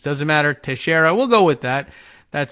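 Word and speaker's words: Teixeira: this was the uh oh tashera is that how they're pronouncing it in the New York area okay I was looking for that note coming through here teshera like like in rui to share has the same name I recognize the name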